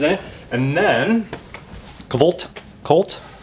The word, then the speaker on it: CVLT: And then Kavt Colt, I know it's pronounced Colt, but Covt is designed by design team like I was saying, Ash Hanschild and Taylor Fontaine.